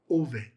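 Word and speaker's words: אֹבֵד: If you have no dot, the bet has a v sound, not a b sound. So, how would you pronounce this? Oved. Oved is the pronunciation.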